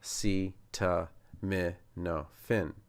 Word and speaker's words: acetaminophen: And the no, although it looks like no, opposite of yes, which my children love to say, it's actually a schwah. So it's an h. So it's like canon, which you would have in maybe a civil war battle or a canon as in a law. And then fen is the phen at the end of hyphen.